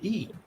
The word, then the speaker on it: Schule: In Germany, they spell it Schule, which is Schule.